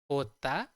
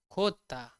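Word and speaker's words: jota: हम कैसे बोलते हैं हम इसे बोलते हैं होता होता या खोदता खोदता यह दोनों यूज होती है आपको ध्यान रखना है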